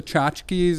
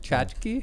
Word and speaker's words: tchotchke: The selling of the tchotchkes and souvenirs at the ceremony.